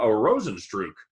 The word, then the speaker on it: Rozenstruik: Goes against Jairzinho Rozenstruik.